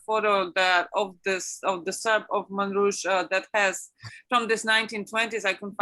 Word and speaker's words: Montrouge: and then they moved to, how do you pronounce it rightly? Montrouge? Montrouge.